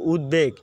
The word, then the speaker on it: উদ্বেগ: দেখো উদ্বেগ, এই যে এখানেও তো ফলা শব্দের মাঝে আছে। হ্যাঁ, এই যে ফলাটা এখানে শব্দের মাঝে থাকলেও এটা দেখা গেছে আমরা এই যে দেখো বেগ উচ্চারণ করছি।